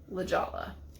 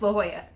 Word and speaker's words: La Jolla: why it is important that it is not La Jolla. It's La Jolla. It's La a Jolla. Spanish pronunciation.